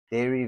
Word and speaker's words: Dare: So, um I wanted my life's work to be a pun and the company is Dare Vegan Cheese, but it's pronounced Dairy with the um the E.